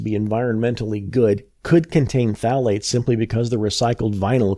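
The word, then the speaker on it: phthalate: are manufactured with them phalates pronounced phalate I have to say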